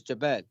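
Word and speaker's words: جبل: It's Jabal.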